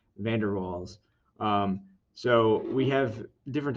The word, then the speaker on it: van der Waals: um we call these i'm i'm trying to pronounce this rock right i this is dutch and i'm not very um good with that language but uh van der waals balls i think is